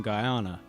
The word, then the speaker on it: Guyana: Guyana.